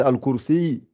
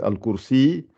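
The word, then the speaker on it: الكرسي: Normalement, c'est al-kursi, le ya, comme si c'est un Son soukoun. âme. Voilà. Donc, c'est al-kursi.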